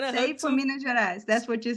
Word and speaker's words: Minas Gerais: Salve para Minas Gerais.